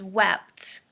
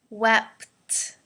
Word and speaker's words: wept: really important and it's wept um i know it's really hard the p and the t together so let's do it slowly wep wept okay and like normal wept